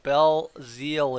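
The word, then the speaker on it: Belzile: now and this one Bell Zeal there we go Bell Zeal is how you pronounce it perfect now I know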